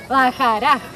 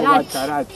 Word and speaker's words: Bacharach: bienvenidos a... Bajaraj. Ah, lo pronunciaste bien. ¿Viste? Todo, es difícil. En español sería como una cosa como Bacharach, algo así.